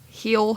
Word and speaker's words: Hel: Like not h e l l h e l heel hell.